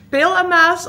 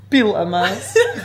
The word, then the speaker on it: Piel en Maas: Is het Peel en Maas of Piel en Maas. Ik vind Piel wel leuk. Moet de klemtoon nog goed leggen. Piel.